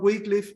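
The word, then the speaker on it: Wycliffe: siglo 16 Por cierto digo John wickliff y no John White como Aparentemente debería sonar pero la manera correcta de pronunciar el apellido es así John wickliff él escribió un libro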